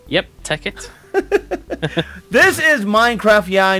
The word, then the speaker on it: Tekkit: Did I pronounce that right? Yep. ticket.